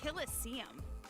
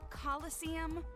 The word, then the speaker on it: coliseum: it right there's no such thing as a killestium what it's pronounced coliseum which is an amphitheater made in ancient rome